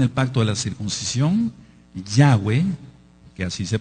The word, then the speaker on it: Yahweh: que no tiene el pacto de la circuncisión Yahweh que así se pronuncia por lo que ya expliqué no puede